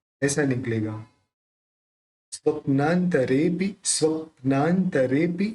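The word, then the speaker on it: स्वप्नान्तरेऽपि: स्वप्नांतरेपि, स्वप्नांतरेपि, ये भी संयुक्त अक्षर है, तो अपन संयुक्त अक्षर में प जो है उसको स्व के साथ लेंगे।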